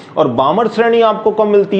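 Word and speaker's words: Balmer: है, कभी कभी इसको बालमर भी बोल देते हो, लेकिन एल साइलेंट होता है, करेक्ट नाम है बामर।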